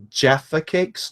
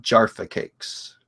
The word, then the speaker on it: Jaffa Cakes: see T2 train spotting they are pronounced Jaffa Cakes not Jara cakes okay Oh you mean